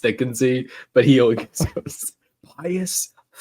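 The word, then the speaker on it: Thicknesse: Potter character because it's supposed to be it's pronounced thicken Z but he always Pious thickness but I I loved it I thought it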